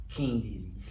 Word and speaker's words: KynnDZY: KynnDZY. And it's pronounced like King, just not as heavy on the G part. You know what I'm saying? So that KynnDZY.